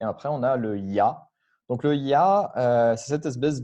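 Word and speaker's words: Я: air dans la prononciation ça se prononce il ya comme yak donc je vous ai fait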